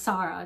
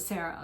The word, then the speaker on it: Sara: supposed to be pronounced Sara not Sarah so it's supposed to be pronounced Sara which is the Arabic and Persian way of saying my name right so growing up